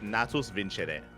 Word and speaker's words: Natus Vincere: Okay, it's apparently in Latin it's Natus Vincere.